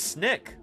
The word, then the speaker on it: SNC: disappointed so yeah yeah uh and snc pronounced Snick are really fun meteorites